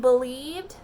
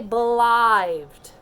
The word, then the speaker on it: believed: So if I come to a word and I see an I here, a lot of times I'm going to try to make that a long I first. And I want to say belived. But my brain stopped and said, I don't know a word that says belived.